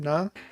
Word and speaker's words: Naa: special guest uh we are joined by Natalia Nar is that the correct pronunciation of your surname Nar yeah yeah yeah sure Natalia we we'll call